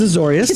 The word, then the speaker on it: Azorius: Can you help me with the pronunciation? That is Azorius. Thank you. Azorius Guildgate.